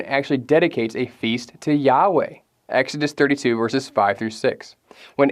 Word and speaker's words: Yahweh: is intentionally replaced in the tetragrammaton yode vave or as we often pronounce it yahweh anyone can look into